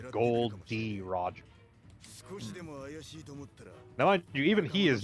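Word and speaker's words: Gol D. Roger: he knows of like being called gold Roger cuz that's the mispronouncing his name his name is gold d Roger now I even he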